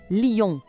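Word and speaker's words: lion: A escrita é bem parecida com o português, mas a pronúncia tem aquele toque nasal francês, Lon.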